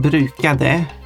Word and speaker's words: brukade: you pronounce, the word brukade, the second word, can commonly be pronounced bruka. You're skipping the last syllable.